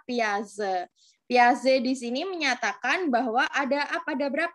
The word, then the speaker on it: Piaget: ya kalau duluan Oh tulisannya Piaget dibaca Piaget nah Piaget dibaca biasa-biasa disini menyatakan bahwa ada